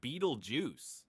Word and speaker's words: Betelgeuse: Beetlejuice, pronounced Beetlejuice. Yes, like the quirky movie character, is no ordinary star.